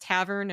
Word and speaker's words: Tavern: And now you're going to be working on it's pronounced Tavern. Am I getting that right? Yes, yeah.